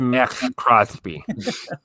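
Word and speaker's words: Maxx Crosby: It's pronounced Max Crosby.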